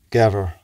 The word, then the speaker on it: gever: The word for goat is gever.